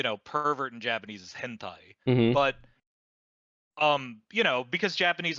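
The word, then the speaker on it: 編隊: So the word formation can also be pronounced hentai.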